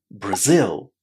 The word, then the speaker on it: Brazil: A lot of students put the stress on the first syllable of this word. But that's incorrect. We should pronounce it as Brazil. Brazil. Did you notice how strong that stress on the second syllable is? Brazil.